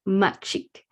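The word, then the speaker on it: mak cik: And that's pronounced machik, Malay for auntie.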